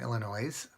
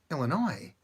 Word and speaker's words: Illinois: me a story from Illinois and they you've yet to see a code I'll talk about that I know there's you don't pronounce the S in Illinois but the weird thing